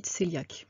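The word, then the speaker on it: cœliaque: s'agit de la maladie coeliaque france écrit qu eyliac mais en fait ça se prononce coeliaque c'est une maladie qui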